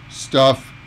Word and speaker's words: stuff: All right, next up is a similarly pronounced word, stuff. Staff, stuff, staff, stuff. Okay? Notice the vowel sound. The ah in staff, it's a long sound. Staff. But that's my stuff. Stuff. The sound is very, very short.